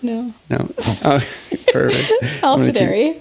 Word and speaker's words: Alisdairi: Yeah, the third Alisdairi. Yeah. Did I say it right? No. No. Oh, perfect. Alisdairi. Alisdairi.